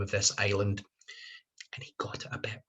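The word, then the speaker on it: Islay: asked a question and it was how to pronounce the name of this island and he got a bet wrong that was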